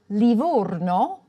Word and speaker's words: Livorno: A closed "o" for Livorno and an open "o" in Otranto.